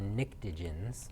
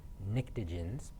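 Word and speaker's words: pnictogens: name it's called the niktigens it starts with a p i know it's a really weird word it starts with a p but a silent p nictogens in column 15 including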